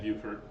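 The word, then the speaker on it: Beaufort: We've been to both Bowford and Buford and And you don't want to mispronounce their town's name when you're there.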